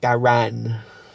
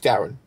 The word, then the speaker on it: Darren: But it's quite funny when you actually spell it out, and then people go, "Oh, Daran," and then they're trying to start moving the jaw, like proper pronouncing things. No, mate, it's just Darren.